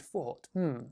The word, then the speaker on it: though: Focus on the vowel sounds, right? So we have though and thought. Very different sounds, even though the spelling is the same.